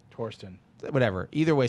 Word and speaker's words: Thorsten: an interim thorsten heinz it's actually pronounced tourism from what i understand torsten whatever either way sounds